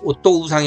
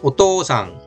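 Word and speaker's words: お父さん: 아버지 할 때 오또 우상이 아니라 오또상 또를 길게 오또상 오또상 이거 왜 또 발음 세게 했는지 아시겠죠?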